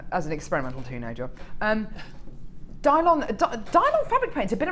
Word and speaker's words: Dylon: Um, is it Dylan as in Bob? Dylon. Dylon. Oh, I thought it was Dylan. So, Dylon.